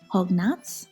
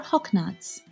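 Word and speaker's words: հոգնած: Hognuts or hawknuts. The last letter you can see is also pronounced differently. In eastern Armenian we say s. In western Armenian we say z.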